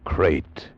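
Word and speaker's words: krait: what kind of a guy Harry Pope was and what kind of a snake a crate is. First, the crate. You spell it K R A I T.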